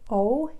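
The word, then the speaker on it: を: is written as EE Oh in Japanese it is actually pronounced as if it was just the letter O oh okay and then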